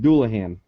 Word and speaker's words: Dullahan: It's pronounced Dullahan.